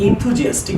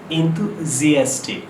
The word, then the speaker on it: enthusiastic: সো ইটস নট ইনথুজিয়াস্টিক, ইস এন বলি না আমরা, এন থু না, হ্যাঁ জিপটি একটু বাইরে হবে, এনথুজিয়াস্টিক, নট ইনথুজিয়াস্টিক, ইটস হবে থুও বলতে পার, থু বলেন না, enthusiastic, হালকা হবে উচ্চারণটা, ইটস নট enthusiastic, ইটস